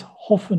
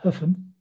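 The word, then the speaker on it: Höfn: hope for there so that is hoffman i think correctly pronounced huffman this is accurately the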